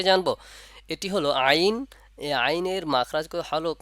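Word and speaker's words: عين: এটি হলো আইন এই আইনের মাখরাজ হলুক মা গলার মাঝ থেকে আসবে এবং এই আলিফ এই হরফটি উচ্চারণের সময় চার আলিফ পরিমাণ টানবো যেমন আইন আইন এবার আমরা এই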